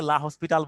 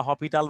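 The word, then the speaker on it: L'Hôpital: হচ্ছে একজন ম্যাথমেটিশিয়ানের নাম, অনেকেই তাকে লা হসপিটাল বলে, লা হসপিটাল থেকে আসছে। লা হপিটাল বা হসপিটাল যা বলো, ইটালিয়ান উচ্চারণ যদি হপিটাল বলো বলো, সমস্যা নেই।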